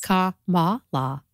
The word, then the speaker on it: Kamala: Kamala. Like a comma okay. and law.